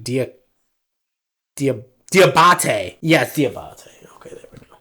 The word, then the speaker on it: Diabate: this up hang on what's how do you pronounce his name it's like dear diabate yeah okay there we go so diabate he